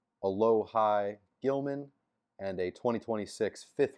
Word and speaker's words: Alohi: So, we have received I think his name's pronounced a lowh high Gilman and a 2026 fifth round pick.